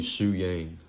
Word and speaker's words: Shu Yang: And Shu So it'd be Shu Yang. So Shu Yang. how would you spell that?